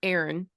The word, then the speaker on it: Aaron: So one, your main character, Aaron, is that how you say it?